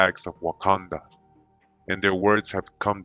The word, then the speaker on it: Wakanda: tribal affiliation the omaha and pronunciation wakanda just like in the movie all right it says